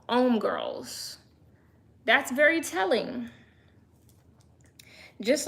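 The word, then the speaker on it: Hommegirls: Like, why is the magazine name called M Girls? And it's supposed to make you think home girls, but it's pronounced because it's French. They don't pronounce the H. They don't say the H.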